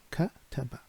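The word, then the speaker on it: كَتَبَ: If I show you the first one, it can be pronounced like kataba, which means he wrote.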